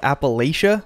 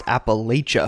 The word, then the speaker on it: Appalachia: six and yeah I know it looks like Appalachia but in reality it's pronounced Appalachia and that's pretty much it predominantly I just